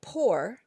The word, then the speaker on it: port: can pronounce the C but the word poor p o r t for Port I don't hear the T poor if I put an e after the T now I pronounce the T port and that means door whereas poor means like